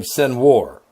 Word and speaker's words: Sinwar: I like to call his name Sinwar, because that's how you spell it. S-I-N like sin, war, W-A-R like war.